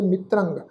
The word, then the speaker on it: मित्रंग: बहु डोलते, नच मित्रंग, मित्रंग तत्ते दे पैर विच अद्धा रारा वा, उत्ते टिप्पी की मात्रा का नासकी उच्चारण करांगे मित्रंग, नच मित्रंग, नच इष्टंग,